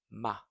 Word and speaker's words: 吗: So it's a neutral tone, light and short, just like the article the. Neutral, light and short. The.